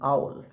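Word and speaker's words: owl: ऊल नहीं बोलना, आउल।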